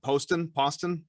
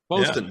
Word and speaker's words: Poston: I'm gonna say it wrong. Poston. You got it right the first time. Poston, very good.